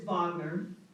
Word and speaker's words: Wagner: It's Wagner, and because my husband's German, and I'm on a personal mission to get everybody to pronounce the German Wagner as Wagner.